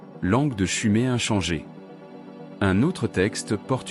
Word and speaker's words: Sumer: Mis à part la mauvaise prononciation du nom, on aurait dû dire Chumé. Et non Sumer au père avait raison.